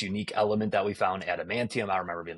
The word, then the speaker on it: Adamantium: Adamantium. Did I say it right? Adamantium, yeah.